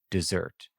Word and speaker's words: desert: the next line, so it's definitely supposed to be pronounced as dessert, despite being written like desert, meaning with one S.